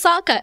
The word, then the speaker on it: Sokka: When he saw that little girl and he said, "My name is Sokka." It rhymes with Akka.